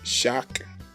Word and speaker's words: chaque: CH is pronounced as SH would be in English. So we have chaque, cher, pistache.